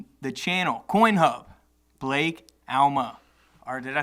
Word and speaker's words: Alma: I went into a podcast and they said Blake Allen so that's a lot better than yeah Alma yeah that wasn't fun but you know Alma